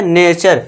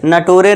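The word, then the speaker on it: nature: नेचर, नटूरे नहीं पढ़ना, इसे ये ध्यान देना है। इसे क्या पढ़ना है? हाँ, नेचर।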